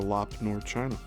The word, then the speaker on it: Lop Nor: I'm going to have to look into lop nor. So that's two words. It's spelled L O P N O R.